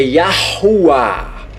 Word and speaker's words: Yahuwah: E não é Iau, é Yahuwah. Bem na pronúncia, tá, seus hereges?